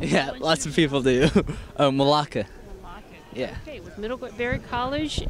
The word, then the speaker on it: Melake: I have trouble pronouncing that. Yeah, lots of people do. Melake.